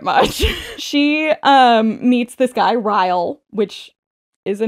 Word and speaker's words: Ryle: She meets this guy, Ryle, which is a name. Ryle? Spell it? Kyle, but with an R.